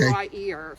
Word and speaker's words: Wier: Wier. Okay. W-I-E-R. Okay. They always pronounced it Wier in our family.